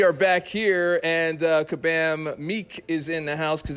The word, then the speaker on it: Miike: I'm here with Kabam Miike, because that's how you do two I's. It's pronounced Miike. Miike.